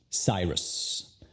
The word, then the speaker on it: Cyrus: Para el apellido tienes dos sílabas. C-Y, Psy y R-U-S, Rus. ¿Cuál sílaba es la enfatizada? Correcto, la primera, Psy. La otra sílaba, Rus. No es enfatizada, entonces la vocal, la U, se convierte al sonido schwa. Rus, Rus, Cyrus.